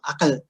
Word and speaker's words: akal: And one of the things he notes that a final L is often pronounced as an I. It's vocalized in Kedah pronunciation and in the pronunciation of Bahasa Tanjung. So you have words like agai. And actually this one's interesting because it's not originally wasn't even Malay. It was from akal, which is an Arabic